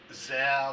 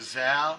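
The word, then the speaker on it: Szell: with it it has like some photos of gazelle there i'm not sure how you pronounce it s-z-e-l-l i'm pronouncing it zell so somebody knows a better pronunciation please you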